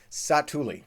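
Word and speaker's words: Satu'li: That's how you pronounce the spot in Pandora. Satuli.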